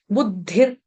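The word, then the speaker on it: बुद्धिः: उसके बाद है विसर्ग विसर्ग का उच्चारण करेंगे हलंत र की तरह बुद्धिर बुद्धिर हरंत र यानी कि आधा र पूरा र का उच्चारण नहीं करेंगे बुद्धि ऐसे कोई नहीं गाएगा कैसे गाएंगे बुद्धिर बुद्धिर इस तरह से हल्का सा र का टच देना ठीक है फिर उसके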